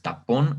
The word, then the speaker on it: tapón: Vamos con la siguiente que es tapón nuevamente. Es una sílaba, bueno, más bien se compone de dos sílabas que es ta y pon. Lleva acento perdón, se me fue la idea. Lleva en este caso el símbolo en la letra O.